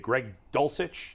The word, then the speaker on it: Greg Dulcich: to tight ends here for a minute Dave Greg dulcich is that how you say his name yes